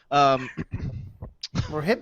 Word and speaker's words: Rohypnol: You know, like GHB, and I can never pronounce this. It's rohypnol.